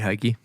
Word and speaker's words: Heikki: All right, Hikey, do you like how I'm saying your name? Yeah. What's the proper pronunciation? He It's like hey and key.